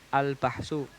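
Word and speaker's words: البحث: Ini albahsi cara membacanya bah. Iya. Di sukun hanya albahsu. Bahsu itu pembahasan ya kan albahsu ini disukun albahsu.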